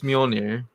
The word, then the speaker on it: Mjolnir: It's Mjolnir. Yeah. How? Mjolnir. Mjolnir. Spelled with a J.